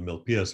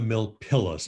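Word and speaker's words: Milpillas: guy it's not the mil pilus minus the pias mine double l in spanish is pronounced as a y so that's your lesson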